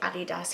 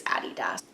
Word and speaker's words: adidas: boots I have a DDoS adidas people say adidas here and actually the correct pronunciation is a DDoS anyway I was wearing super stars they're fine